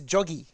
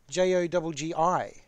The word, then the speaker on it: Jogi: between running and walking this is joggie j-o-g-i we'll go with joggie that i'll i'll accept that mispronunciation but it's actually jogi there we go joggie